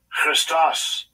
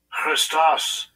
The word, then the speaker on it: Christos: And compare it to how the word Christ is originally pronounced. Strong's G 5547, Christos. Christos.